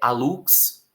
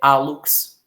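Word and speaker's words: hálux: Se eu não conhecesse, eu diria que a pronúncia era essa. Agora eu vou devolver seus acentos. E, na verdade, eu vou descobrir que a pronúncia dessas palavras, na verdade, é hallux, que é o nome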